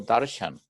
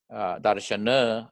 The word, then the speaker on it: darshan: to my temple for darshan. Darshan means to have a vision of their God, vision of their deity. That's called darshan. They go for darshan. Darshan is the darshana with the Sanskrit pronunciation.